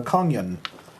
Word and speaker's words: Kongyùn: little uh label on the Rock uh uh pronouncing it is a konyan um so uh this is an emergency she